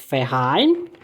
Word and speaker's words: Verein: O V é o FAL, né? Pronuncia com som de F. Que é Verein.